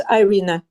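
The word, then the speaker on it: Irina: It's Ireina.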